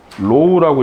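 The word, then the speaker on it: ρ: 그래서 얘를 로우라고 읽어주셔야 돼요. 그리스 알파벳, 그리스 문자 로우라고 읽어주셔야 됩니다.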